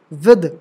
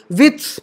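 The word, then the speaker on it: with: द का उच्चारण दिश विद कभी-कभी बहुत से लोग विथ पढ़ते हो लेकिन ये गलत है विथ नहीं होगा थिस नहीं होगा ठीक है दिश विद ये ठीक है ट का उच्चारण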